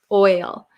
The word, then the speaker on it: oil: pronounce but so it's very similar to boy boy so the o i or the o y is a boy boy boy if you can hear there's like a y sound almost oi okay let's see all